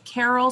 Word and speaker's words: Caryl: And her email is Carol, so CARYL. My mom did a number. It's rhymes with Daryl.